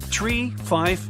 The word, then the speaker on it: tree: in their pilot English tree stands for three five for five and ner is used instead of nine such pronunciation helps to